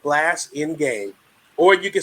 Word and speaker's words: Blasingame: I want to say Blazing Dale, which is, I've heard that before, right? But, Dr. Marissa, it's pronounced exactly how it's spelled, Blasingame. Or you can say Blasingame like my northerner friends do.